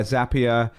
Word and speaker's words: Zapier: obviously been acquired by zapier rhymes with happier i just confirmed that